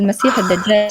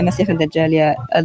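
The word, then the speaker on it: المسيح الدجال: And they actually don't say it like that. They say it with a kha. Yeah, Masih al-Dajjal, the lying Messiah.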